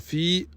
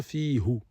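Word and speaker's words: في: qui est houa, on dit pas fiou, on dit pas fou, on dit fi et on transforme ce ha qui était à la base avec une dam avec une kasra, c'est pour faciliter la prononciation.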